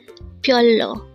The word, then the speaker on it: 별로: Again, BYEOLLO. This is pronounced as a two-syllable word. The first syllable is BYOL, second syllable is LO.